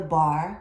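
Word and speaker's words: barre: Normally we would have the bar, remember B-A-R-R-E, and we would have our hand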